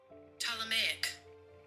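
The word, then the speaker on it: Ptolemaic: Tameic.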